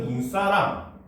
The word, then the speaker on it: 눈사람: 자, 눈과 사람이 합쳐지면은 우리는 이것을 눈사람 이렇게 얘기하잖아요. 그렇죠? 근데 이때는 뭐야? 길게 발음되는 눈이 여전히 첫 번째 음절이 있잖아요.